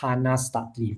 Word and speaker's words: Chana Studley: It's called Beyond Diagnosis by, it's pronounced Hannah Stutley, but spelled Chana Studley.